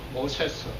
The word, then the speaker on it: 모세스: 근데 이게 원래 발음은 영어 성경에 보다시피 모세스입니다. 모세스.